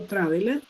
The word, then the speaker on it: traveled: Quedaría escrito traveled. Yo lo pronuncio traveled con una D al final.